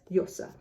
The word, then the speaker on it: Llosa: So the double L is supposed to be like a Y. But I know that in certain places, this is pronounced like more like a G. So G or J, Mario Vargas Llosa.